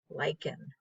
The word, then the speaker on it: lichen: rock and they're called lichen so the ch is pronounced as a k lycan so what happens is